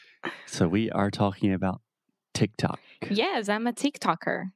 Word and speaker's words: TikTok: talking about the platform itself just a quick pronunciation about the name of the platform tik-tok so this is not cheeky Toki not anything like that tick tock tick tock okay say it with me three times fast